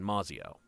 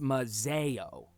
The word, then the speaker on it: Mazzio: the Thorns back in Mazzio uh it's actually pronounced mazeo really that's not what